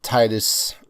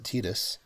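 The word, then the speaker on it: Tidus: Uh, Titus, I will never ever ever pronounce a Tetus.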